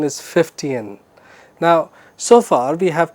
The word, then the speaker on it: Fichtean: about a very interesting uh story format called 50an Curve the pronunciation is 50n now so far we have talked about you